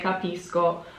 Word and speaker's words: capisco: of these so um when the sc is followed by an o it's an sk sound so i say capisco when the sc is